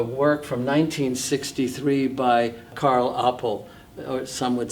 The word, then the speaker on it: Appel: For example, here we have a work from 1963 by Carl Appel or some would say Appel, but uh he was Dutch and the pronunciation is Appel.